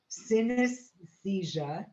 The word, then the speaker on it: synesthesia: And anyway, it's called synesthesia. It rhymes with amnesia.